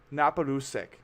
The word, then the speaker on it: Naparusek: little bit though about napolusic if if I'm pronouncing that right yep perfect sick I have a